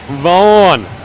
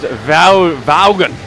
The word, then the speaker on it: Vaughan: Vaughn. Well, I'd call him Vaughn because apparently that's what his name is, but clearly it's actually pronounced Vaughan.